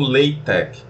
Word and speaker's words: LaTeX: uma observação do nome se pronuncia ou látex ou Lei Tech mas não látex certo isso aí foi o próprio criador que definiu essa pronúncia Vamos para o próximo